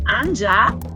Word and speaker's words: Anya: A friend also told me that Anya, that is in foreign countries, is mostly pronounced Anja, and it's kind of similar to angel.